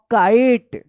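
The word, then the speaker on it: kite: आई का आई उच्चारण होता है और इस ई का कोई उच्चारण नहीं होगा। तो क्या पढ़ेंगे इसको? काई पढ़ेंगे। I have a काइट।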